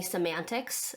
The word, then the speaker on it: Cymantix: and CEO of uh my company semantics um which is spelled funny with a c and a y and an X um but uh yeah